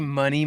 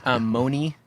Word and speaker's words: Monē: There's no real way to say it wrong. So okay, we say money most of the time. Moni is kind of another funny take, but Moni.